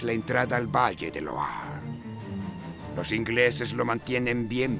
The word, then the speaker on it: Loire: Yo dije Loire o Loair. Loire me parece que dije y es Loire, Loire, Loire. Son, ¿cómo se llama? Ciudades francesas, entonces se pronuncian raro.